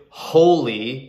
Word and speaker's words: holy: Now, the reason why we use a is because the adjective holy is pronounced with the H.